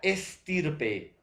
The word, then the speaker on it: estirpe: y la segunda palabra estirpe extirpe estirpe por extirpe estirpe nuevamente nuestro profesor la pronunciación serán igual o parecida si profesora hay un una poquita de diferencia entre ex y es entonces profesor es parecida